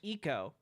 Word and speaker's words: Ico: from the video game Ico. And I know it's supposed to be pronounced Eco, but I refuse to